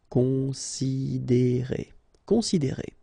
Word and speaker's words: considérer: Considérer, okay, same thing here, you get this accent aigu, and then the sound is E, considérer, considérer.